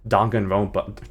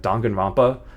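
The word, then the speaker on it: Danganronpa: It's kind of similar vibes as um Dongan Rompa. Why did I pronounce it like that? Dangan Rampa.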